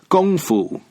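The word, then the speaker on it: 功夫: kung-fu style of fighting which in Chinese is called gongfu the word kung foo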